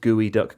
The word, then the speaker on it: geoduck: Nor 4331 said, "Fun fact, JJ, I went to a college called Evergreen, which has a gooey duck as their mascot. It's pronounced gooey duck.